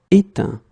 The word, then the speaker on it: éteint: Okay, final T not pronounced. Craindre, craint. Éteindre, éteint.